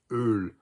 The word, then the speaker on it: öl: It's just spelled a little bit differently depending on which language you're talking about, and it's pronounced öl.